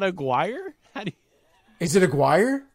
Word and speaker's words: Aguirre: hold on hold on I've actually seen that name not pronounced as a choir I think I've announced three guys with that last name and I know one really yeah yeah one of them uh he told me that it's pronounced aguide oh wow wow and this guy at apfc was like we don't say it like any kind of like ethnic way it's just like Gary just say Gary I guess I'm used